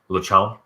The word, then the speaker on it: Lachance: How would you pronounce that in French? Lachon. You're supposed to cut off the last 2 to 3 letters of anything in French.